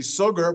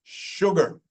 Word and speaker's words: sugar: And this word looks like it would be sugar, but no, it's sugar. And then sure. So sometimes we say the SH sound when there's no H.